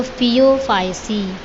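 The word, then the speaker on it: Phaeophyceae: ऐसे ही जिसमें यहाँ पर दिया हुआ है आपको ब्राउन कलर है, उसको फियोफाइसी, है ना। फियो बेटा स्पेलिंग और ये टर्मिनोलॉजी आपको अच्छी तरीके से याद रखना है ना।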